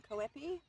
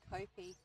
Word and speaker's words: Koepi: No change in the count on Koepi. high. 2 and 2 now the count. And apologies, I think it's actually Kopi.